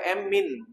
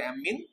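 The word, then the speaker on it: ammine: three কে বলতে হবে এম্মিন হ্যাঁ তোমার ডাবল ম দিয়ে উচ্চারণ করে এম্মিন তারপরে তোমার কার্বনিল হ্যাঁ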